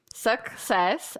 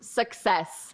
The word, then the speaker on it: success: It's the second syllable here. Success. All right. Don't say success because it sounds like other words like sexist or something, which has a very different meaning.